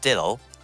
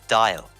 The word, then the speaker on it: Dial: and uh he did it was not dylo why would you pronounce it like that it's dial apologies to mark but